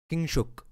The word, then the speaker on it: Kingshuk: Kingshuk. In Bengali we pronounce it.